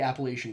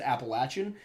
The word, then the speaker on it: Appalachian: region of Appalachia uh do pronounce it with the long a but I can understand